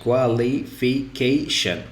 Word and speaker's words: qualification: like here right so the syllable should be in here just before shen in the syllable just before shin because uh basically leafy qualification so this one usually uh ordinarily it has one two three four five five syllables but i do not care about how many syllables there are what i care about is the ending and after that i go just before the ending and i take my stress qualification uh another one